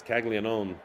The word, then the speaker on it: Caglianone: And on one hand, yes, Caglianone, that's how you pronounce it, is hot, and he's been damaging multiple teams.